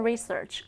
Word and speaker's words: research: 그러니까 excellent가 아니라 excellent research. 읽어볼까요? Excellent research. Excellent research. 여기에서 research가 아니라 research. Research. 요 맨 마지막에 그 발음도 살짝만 해주셔야 돼요.